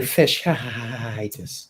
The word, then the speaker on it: fasciitis: Define plantar fasciitis.